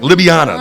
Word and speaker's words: Ljubljana: Ljubljana. That's how you say it? Ljubljana, that's how you say it.